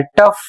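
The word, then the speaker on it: tough: इसकी स्पेलिंग है टी ओ यू जी एच पढ़ा जाता है टफ।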